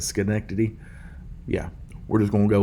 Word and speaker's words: Schenectady: I went here about 2 years ago, and I was asking dude up there, I was like, how do you say the name of this? And he's Schenectady, or I think that's how he said it, Schenectady.